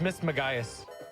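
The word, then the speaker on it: Mismagius: M Miss Maggias. Yeah, that was great. Miss Magas, we still have a Hunter coming up. Is it Miss Magias or Miss Magias? It's Miss Maggias.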